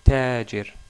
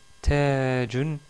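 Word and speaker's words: تاج: Tajun ou Taj, si on s'arrête sur le mot, qui veut dire, on l'a déjà vu, une couronne.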